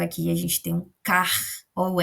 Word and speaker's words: caro: Enquanto daqui é o som de r, r, caro, caro.